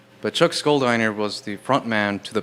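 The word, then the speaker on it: Schuldiner: Chuck, uh, I think his last name is pronounced Scherer. Chuck Schiner. I always say Chuck Scholiner just because it sounds silly, but Chuck Skoldiner was the frontman to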